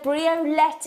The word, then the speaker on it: briolette: you David hey Xena briolette is pronounced like omelette I'm afraid sorry thank